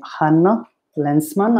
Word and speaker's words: Hánno Länsman: based in helsinki finland and today i'm interviewing hannah lensman i hope i pronounced your name correctly that's correct thank you